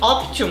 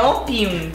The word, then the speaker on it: Opium: Mas é engraçado que a gente sempre chamava esse perfume de Optium. Até que eu falei pra Mara, Mara, não tem T. É Opium.